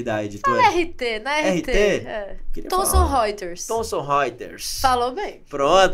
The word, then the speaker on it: Thomson Reuters: Como é que é a pronúncia adequada aqui da editora? RT, na RT. Thomson Reuters.